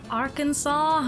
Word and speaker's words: Arkansas: And Arkansas, not to confuse with the pronunciation of Kansas.